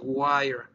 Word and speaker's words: wire: es que todas las seis últimas no se pronuncian por lo tanto es wire pero si cambia su está está esta es